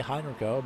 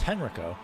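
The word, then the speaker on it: Henrico: This could set him up for a move by Hinrio, but uh keep I keep pronouncing Hinrio. It's Henriko. Uh as Henriko will stick behind, not able to carry the momentum just yet.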